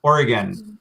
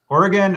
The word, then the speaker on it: Oregon: oregon more um so it sounds like you know an organ in your body like your lungs as